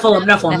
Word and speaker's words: Nephilim: So the second, why did I just forget how to pronounce it? Nephilim? That's how you say it? Nephilim, yeah. Okay. The second Nephilim, born and raised in the same quote family.